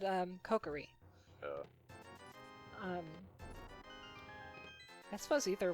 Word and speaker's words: Kokiri: I always said um cokery yeah um I suppose ether would work I mean it's not like it's uh Kokiri would be like the Japanese pronunciation and also adorable cookery